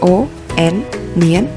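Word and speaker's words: 언니: Iyeng, o, n, nien, lalu nien dan i.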